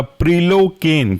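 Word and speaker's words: prilocaine: दूसरा एग्जाम्पल है इसी क्लास का, वह आपका प्रिलोकेन।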